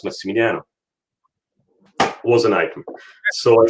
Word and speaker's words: Massimiliano: in this livestream so my name is correctly pronounced massimiliano which is coming from the latin maximilian so massimiliano now the reason why